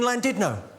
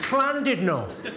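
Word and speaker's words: Llandudno: out and said it's lovely to be in landid no this guy front and center where you're sitting there face like Thunder went it's not landid no you bloody fool it's cland Dido in whales the dou L is pronounced with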